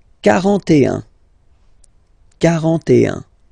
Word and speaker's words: quarante: Okay, so same rule as previously, as for 4, okay? 40, quarante. Ok. Quarante et un.